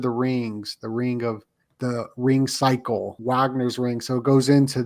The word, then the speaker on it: Wagner: Wagner, yeah, that's how they say it. Wagner.